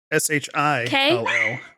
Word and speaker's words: shillelagh: SHILLELAGH.